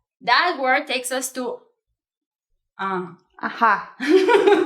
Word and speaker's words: ajá: they keep saying "ajá" which is in Spanish A-J-Á with acento en la última A in the last A it's as if in English you were having like A-H-A like yeah, yeah, yeah